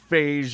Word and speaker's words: Fage: Fage yogurt. I do like the idea that it rhymes with sage.